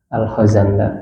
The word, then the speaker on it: Al-Khazandar: Yang lalu-lalu agak salah membacanya. Jadi Mahmud Muhammad Al-Khazandar ya.